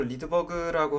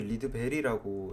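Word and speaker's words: Rydberg: 바로 연속 스펙트럼입니다 그래서 리드버그라고 하시는 사실 발음이 리드 베리라고 제가 본 거 같은데이 리드베리라고 하는 과학자는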